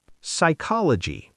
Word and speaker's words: psychology: When P comes before S, N, or T at the beginning of a word, it's usually silent. Psychology. P S Y C H O L O G Y. Psychology. No P sound.